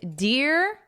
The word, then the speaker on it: dear: And dear and fear for bear and pear. So dear and fear have the same vowel. It's also the same as here. So it's that ear, dear, fear.